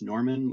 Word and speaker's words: Norman: That is spelled like it sounds. like the month, Norman like the people from the north of France.